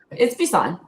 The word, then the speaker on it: Bisson: I want to pronounce it that way. It's Bisson, right? It's Bisson.